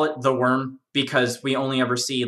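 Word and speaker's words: wyrm: land um and this being was called the worm it's theorized that there's probably more than just one there's probably lots of like other worms that exist but like this one uh we just call it the worm because we only ever see like one in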